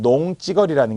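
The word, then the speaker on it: 농지거리: 어디서 반말지거리, 우리 맞춤법 발음에서도 잘 나오던 반말지거리, 그리고 발음이 다른 농찌거리라는 게 있었죠. 농찌거리, 발음은 찌거리, 표기는 지거리라는 지금 전미사가 들어간 거예요.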